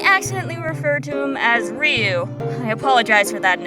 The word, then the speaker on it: Ryu: However, even though I know it's pronounced Ru, like most Westerners, the name is difficult to pronounce. So I may accidentally refer to him as Ryu.